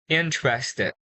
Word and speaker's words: interested: Interested.